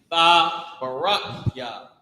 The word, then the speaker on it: Tabarak Yah: Tabarak Yah, right? This is how you say it. Ta. Remember, it's ta at the beginning. Barak, which is the root word. Ta barak ya at the end.